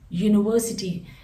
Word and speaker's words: university: is university your university the letter you in university has your sound ya ya university ya university okay the next one is